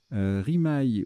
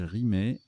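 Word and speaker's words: rimaye: Rimaille ou rimet, ça se prononce aussi rimet.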